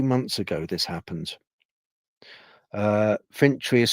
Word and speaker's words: Fintry: Scotland a few months ago this happened uh fintry is spelled f i n t r y in